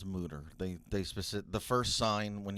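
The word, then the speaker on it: Mütter: It says moo, pronounced moo, like a cow, and then dash TER.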